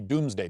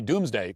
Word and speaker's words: Domesday: Spelled Domesday, even though it's pronounced Doomsday. The point of the Doomsday Book was to list